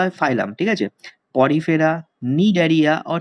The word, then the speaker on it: Cnidaria: Porifera, নিডারিয়া অর সিলেন্টেরেটা।